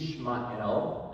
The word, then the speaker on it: Yishmael: It's Yishmael, as it's pronounced in the Hebrew.